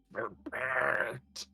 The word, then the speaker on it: sherbet: Is it sherbet or sherbet? Well, then, even if then you're still saying it wrong, if it would be. It is sherbet. What? There is only one R.